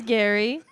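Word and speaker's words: Gerry: sugar daddy he is his name is Gary of course but it's spelled like Jerry so the internet is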